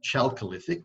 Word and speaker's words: Chalcolithic: Copper mining began in this area in what was known as the Chalcolithic period, spelt Chalcolithic but pronounced Chalcolithic.